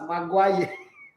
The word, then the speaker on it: Maguire: Okay, so he spelled it Magwaya. You know when somebody wants to be really sarcastic, not like he doesn't know how to spell it too. He just wants to be sarcastic as pronounced Maguire.